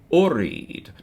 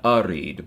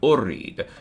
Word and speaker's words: urid: Yoridu, it's going to conjugate just like a regular verb, except it's going to use dhamma on the first syllable. So to say I want is urid, not arid, but urid.